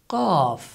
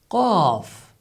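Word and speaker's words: ق: And the last character is qaf. Qaf. Qaf. It is pronounced like K in English, but with much more emphasis.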